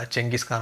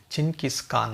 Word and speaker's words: Chinggis Khan: ಏನು ಹೇಳ್ತಾ ಇದೀವಿ ಈಗ ಚಂಗಿಸ್ಖಾನ್ ಅಥವಾ ಜಂಗಿಸ್ಖಾನ್ ಅಂತ ಇದು ಸರಿಯಾದ ಉಚ್ಚಾರಣೆ ಅಲ್ಲ ಅಂತ ಹೇಳಲಾಗ್ತಾ ಇದೆ ಸರಿಯಾದ ಉಚ್ಚಾರಣೆ ಏನು ಅಂದ್ರೆ ಚಿನ್ಕಿಸ್ಕಾನ್ ಅಂತ ಸರಿಯಾದ ಉಚ್ಚಾರಣೆ ಆದಂತಹ ಚಿನ್ಕಿಸ್ಕಾನ್